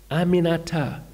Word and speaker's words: Aminata: Aminata, four syllables. It's really not that hard.